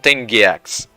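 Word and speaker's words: Giak: uniforms these are mon gaks evil Servants of the dark Lords actually there's a dictionary what a pronunciation g e a key so gak right oh it correctly you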